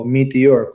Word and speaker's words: Meteor: Kung ang mga Gripen na ito ay lalagyan ng misil na Meteor o Meteor kung sa Italianong bigkas na gawa ng MBDA,